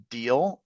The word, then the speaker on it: Deal: again my name is deal like Deal or No Deal and the name of